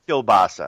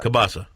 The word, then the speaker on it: kielbasa: the way what's that it's kielbasa Cabasa yeah you mispronounce oh yeah yeah Polish